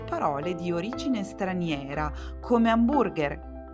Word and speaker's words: hamburger: Beh, alcune volte sì, ad esempio nelle parole di origine straniera, come hamburger. L'H si scrive, ma non si pronuncia.